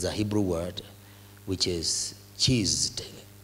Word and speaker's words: chesed: It's a Hebrew word which is chesed, like, you know, I can only pronounce it like in English, but it's C-H-E-S-E-D, like chest or cheesed, you know, but it's not cheese because it's not double S.